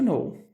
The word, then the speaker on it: know: cozinhar muito bem Alright toda vez que a gente vai utilizar o verbo to know que nós não iremos pronunciar o k que nem a palavra Knife da aula de ontem tá